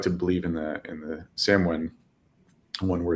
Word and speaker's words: Samhain: It's also the date of Samhain, or I think it's actually pronounced Samhain.